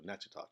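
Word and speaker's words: Natchitoches: to Fort John Baptist in nachoes Louisiana or naach as somebody told me to pronounce it anyways that's the long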